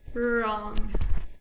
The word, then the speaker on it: wrong: 3, 2, 1, wrong.